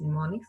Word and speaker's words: mnemonics: M is silent here, so we call that as mnemonics.